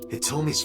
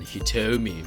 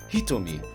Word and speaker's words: Hitomi: to question hitomi here hitomi as i think she's pronounced correctly calm yeah maybe not correctly but i think it's more accurate than hitomi which is the american way of saying it i think it's hitomi in japanese or at least closer what